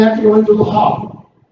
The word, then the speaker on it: Havre: They have to go into the Havre. We don't even pronounce the H over there. Okay, it's the Havre.